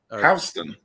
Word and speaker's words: Houston: Houston is pronounced Houston.